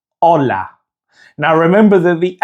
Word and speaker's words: hola: And to say hello in Spanish, it's hola. Now remember that the H in Spanish is silent, so the pronunciation is hola.